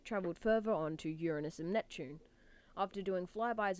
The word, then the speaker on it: Uranus: Saturn years in Uranus and Neptune once again Uranus is how it's pronounced stop it which can be seen at